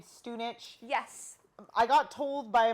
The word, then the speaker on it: Stunich: Our last name is really common there, and it's pronounced Stunich.